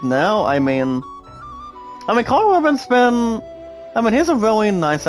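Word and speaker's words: Karl Urban: But why not Carl Urban? It's pronounced, guys, as Carl Urban.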